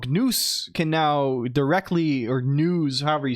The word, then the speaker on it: Gnus: Yes, I know it's pronounced news. Um, but I'm going to say GNous to, you know, um, oh, there's even a Wikipedia page for it.